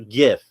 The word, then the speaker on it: GIF: You know, there's lots of soft G words, but graphics is not one of them. I'm just saying. So, if you're gonna if you're going to start it with the G from graphics, your your acronym, then it should it should have a hard G.